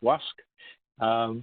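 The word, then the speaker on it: Łask: marker here by lask it's pronounced in Polish WASC which is just west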